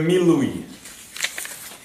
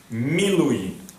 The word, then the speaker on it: Milui: Second method, it's called the Milui. Milui. M-I-L-U-Y. It's a Hebrew word.